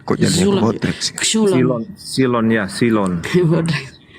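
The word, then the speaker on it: ξύλον: X Bodrex x u l o n kok silon silon ya silon bacanya silon Ya ini ini Coba bantu tem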